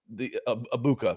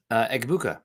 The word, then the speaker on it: Egbuka: You pronounce the Abuka. Who's the guy they took at wide receiver, Nick? Egbuka.